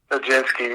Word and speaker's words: Nijinsky: Kip Winger conversations with, is it pronounced Nijinsky? Nijinsky, yeah.